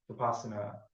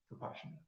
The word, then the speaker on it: Vipassana: He calls it Vipassana. So that's like I guess it's the Indian and Burmese permutation of pronunciation of it. Yeah. Vipassana.